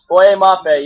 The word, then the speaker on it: Boye Mafe: Well, I forgot how to pronounce his name. Moafe? Boye Mafe, yeah.